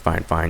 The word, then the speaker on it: FIFINE: so it's by fine fine technology it is pronounced fine fine even though it's f i f i n